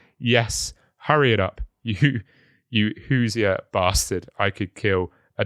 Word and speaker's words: Hoosier: Also, I don't know if is it pronounced Hoser? Hoosier. Because I think Hoosier. Hoosier. Hoosier, yeah. I think I pronounced it correctly then.